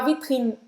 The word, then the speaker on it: vitrine: E não vai falar esse E no final da palavra, tá? Termina a pronúncia no N, mas não vai falar vitrine. Precisa alargar essa língua para terminar a pronúncia.